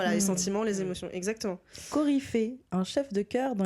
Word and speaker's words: coryphée: Coryphée, un chef de chœur dans les pièces de théâtre antiques. Ok, bah voilà, donc on est dedans. On est dans le lien avec la musique. Ça se prononce coryphée ?